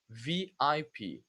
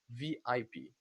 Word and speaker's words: VIP: So you say VIP, letter by letter. Remember, in Brazilian language, in Portuguese, Brazilian Portuguese, we say as a word, but in English, letter by letter, VIP.